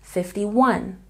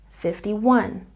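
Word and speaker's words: fifty-one: But when we add another number at the end, the stress changes. The main stress is on the last syllable. 51, 51.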